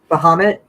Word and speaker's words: Bahamut: Bahamut?